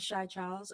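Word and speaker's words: Xia Charles: My name is Shai Charles. It's spelled X I A C H A R L E S.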